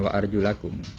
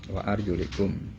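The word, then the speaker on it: وأرجلكم: tanda jernya dengan kasroh, berarti wa arjulikum bacanya. Ya, bukan wa arjulakum, wa arjulikum.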